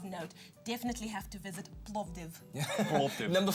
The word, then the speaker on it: Plovdiv: you're Plovdiv, you've got to say it like that.